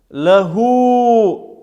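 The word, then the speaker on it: لَهُ: Лаху. Здесь мы видим, что над буквой лям есть огласовка, значит замир гу мы тянем.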